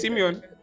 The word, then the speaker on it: Simeon: I pronounce that correct who is Mr Simon or Mrs Simeon because there's always a problem with this is Simeon yeah okay so um to